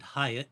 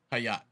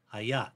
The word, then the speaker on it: Hayat: When you mentioned the yoga studio in Fayetteville, I would have pronounced it Hyatt, like the hotel, but that's not this gal's origin, and so it's pronounced Hayat. Hayat.